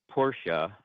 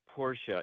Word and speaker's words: Porsche: It says Porsche is a 2-syllable word, and it's spelled out with the connotations to indicate such. And when I hear the